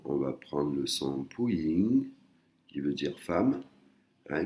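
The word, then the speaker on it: ผู้หญิง: ผ ู ้ ห ญ ิ ง Puying, hein, Puying, il y a de l'air qui sort.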